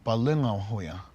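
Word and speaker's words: Palöngawhoya: our culture, and the older brother's name is pronounced Bukanghoya, and the younger brother Palungahoya.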